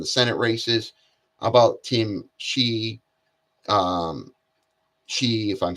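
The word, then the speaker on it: Sheehy: And I like to see Tim Shee, I'll pronounce his name is Shee, is also very successful business owner, very now he's a successful business owner, but he's also was in the military.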